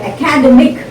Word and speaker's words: academic: is stressed academy now when you pronounce the word academic the third syllable is prince is stressed academic academic academy academic